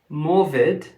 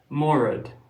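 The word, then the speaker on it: Morudd: Jeff's uh jeffy's book they uh swap that name for morid or Mori I think is how you pronounce it but it's m r u d d so I think that's pronounced Mori so the point is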